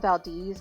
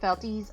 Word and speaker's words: Valdez: there's a town called Valdis, which is spelled Valdez, like a person's last name. We pronounce it Valdis. I don't know why, but that's how it's pronounced.